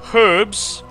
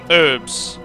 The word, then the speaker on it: herbs: Herbs, with the H pronounced. Or herbs, with the H not pronounced. I don't get why they say herbs. It's herbs, with the H, surely.